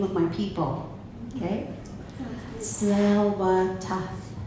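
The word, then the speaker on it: Tsleil-Waututh: to say the name of my people okay smell what smell what I smell so slow death in our language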